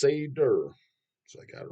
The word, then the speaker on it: Seder: for you to check out it's called Sader pronounce Sader so I got it right there God damn